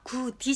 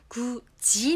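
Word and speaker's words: 굳이: ここは口外音化という文法が起きています。なので発音はクディじゃなく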